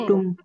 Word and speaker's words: कुटुंब: कुटुंब को ऐसा भी लिखा जा सकता है ना? चाहे ऐसे लिखो या ऐसे लिखो, वहां पे उच्चारण किसका आएगा? म का माँ आएगा। का। तो जहाँ पे भी प फ ब भ आ रहा है, उसके पहले अगर बिंदी है, है, तो वहां अपन म का उच्चारण करेंगे।